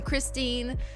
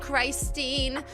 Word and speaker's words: Christine: I am Christine, not Christine.